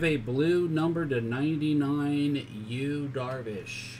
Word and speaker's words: Yu: We have a blue number to 99, Yu Darvish. His name is Yu and it's spelled Y-U.